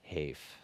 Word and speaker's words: HEIF: with the spec so the Finnish pronunciation should win that would be the 1% hafe well as for me and my floor we're gonna call it Heath it can use HEV